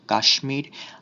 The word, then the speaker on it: কাশ্মীর: কিছু তৎসম শব্দে ময়ের মতো উচ্চারিত হয়, যেমন কুষ্মাণ্ড, স্মিত, শুচিস্মিতা, সুস্মিতা, কাশ্মীর, আয়ুষ্মান, আয়ুষ্মতী ইত্যাদি।